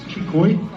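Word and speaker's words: Xicoy: So, it's Chikoy. That is how it's pronounced.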